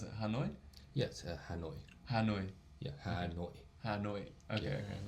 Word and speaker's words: Hanoi: How do you pronounce it? Hanoi? Yes, Hanoi.